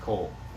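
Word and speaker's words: כל: And both of those are pronounced kol. I know the one looks like it's not, but kol, both of them are kol.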